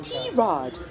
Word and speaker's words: Tirade: a goal for Tomboy Tirade, Asia's first and only English comedy chat podcast. And mind you, it's pronounced Tirade, not tirade or tirade or however else you want to call it.